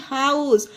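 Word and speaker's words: house: के एक्सेप्शन है कि एच ओ यू एसई हाउस अब यहां पर तो एच के बाद ओ है लेकिन फिर भी इसे हा प्रोनाउंस किया गया है इसमें हा का उच्चारण दिया गया है यहां पर हा हा या एच साइलेंट नहीं नहीं है फ्रेंड्स तो आप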